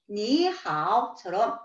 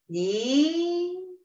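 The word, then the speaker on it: 你好: 니하오처럼 삼성과 삼성으로 이루어져 있을 때에는 앞에 나오는 단어의 삼성을 이성으로 변화시켰습니다. 그래서 니하오, 니하오라고 표현을 하시는 거죠.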